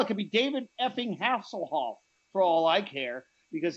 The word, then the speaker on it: Hasselhoff: Don't you ever put some respect on that name, Hasselhoff. That's how you pronounce it.